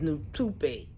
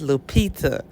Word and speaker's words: Lupita: felt bad for is new to be who his new tupe okay i got her name wrong it's lupita not new to paint guys forgive me